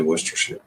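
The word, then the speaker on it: Worcestershire: Uh, worershare. You say worshshire. Yep. Like Worcester like the town and then sheer like curtains.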